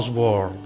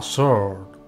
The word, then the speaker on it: sword: E mi raccomando, non sword, ma sword. Bisogna sempre specificare perché in molti sbagliano. E questa dovrebbe essere la pronuncia corretta.